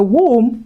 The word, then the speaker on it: womb: Also, we have a gentle comb until then we have as the womb left behind. So when words end with M and B, focus on the M, ignore the B.